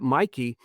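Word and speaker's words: Michie: It looks like Mitchie, but it's pronounced Mikey.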